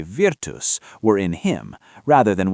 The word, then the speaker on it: virtus: lest we suppose that the two syllables we produce when we say virtus were in him, rather than what is signified by those two syllables.